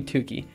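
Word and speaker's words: Tukey: been has been had it's not turkey it's cooly tooky uh although i might be mispronouncing tuki um let's see it is it's not coolly turkey definitely so split off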